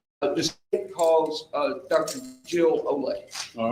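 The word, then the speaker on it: Olek: Jill Ole. And that's spelled O L E K.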